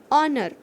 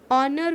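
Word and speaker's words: honour: Here spelling is H-O-N-O-U-R, but when we are pronounce, it is called honor.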